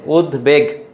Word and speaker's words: উদ্বেগ: থাকলে উচ্চারণটা হয় না এটার মাঝে আছে উদ তারপরে কি হবে বেগ এইটের উচ্চারণ বহাল আছে সঠিক উত্তর হবে খ